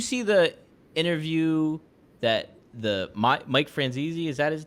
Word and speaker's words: Franzese: Well, did you see the interview that Mike Franzese, is that his name? Mike Francis. Michael Francis. Yeah, Michael Francis? The way he pronounces it is Francis.